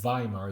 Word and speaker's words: Weimar: Whom you saw in Weimar, they pronounce that Weimar, just like Weimar, years ago.